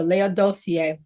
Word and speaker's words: Laodicea: I'm going to pronounce this word as I was told by a minister Laodicea.